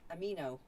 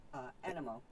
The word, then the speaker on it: Animo: What's funny is I look at the way his name is spelled, and I would have said amino, like amino acids, just for the way his name is spelled, but they pronounce it animo.